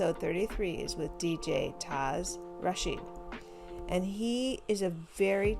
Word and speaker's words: Taz Rashid: I'm here with DJ Taz Rashid.